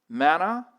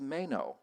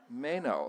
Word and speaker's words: Manaugh: Mana. Manoff. Actually, I just found out it's Mayo, right? Mayo. So, that's Mayo.